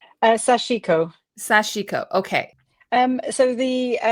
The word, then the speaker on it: sashiko: Do you call this shashiko? Uh sashiko.